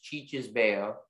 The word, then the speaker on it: cicisbeo: The word's only pronunciation is Cicisbeo.